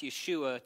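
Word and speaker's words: ישוע: So, his name was pronounced Yeshua to those who knew him best, yes.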